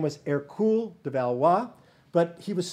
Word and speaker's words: Hercule: france eventually his name his birth name was air cool de valois but he was small he was